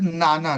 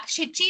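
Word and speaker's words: 七: so 7 also is pronounced as Nana, right? Yeah. Shichi and Nana.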